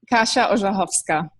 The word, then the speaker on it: Kasia Orzechowska: Do you want to pronounce it correctly, just so I can do better next time? Kasia Orzechowska.